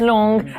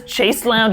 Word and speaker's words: chaise longue: It's a chaise longue, and everyone who says chase lounge is just the wrong word. Because it's not lounge. It doesn't mean lounge. There's a small table next to the chaise lounge. Long. How do you say it? Long. It's literally just a long chair.